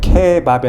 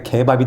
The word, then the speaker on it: 케밥: 근데 손님들은 키읔 발음을 기역 발음으로 바꿔서 이야기를 해요. 그거랑 나는 좀 비슷한 것 같아요. 기업 발음이면 케밥이 아니라 개밥이 된다.